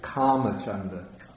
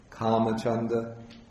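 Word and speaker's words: kāmacchanda: for kamachanda yeah yeah it's actually karma chanda yeah the a with the bar over it has it's a long vowel karma chanda then the next one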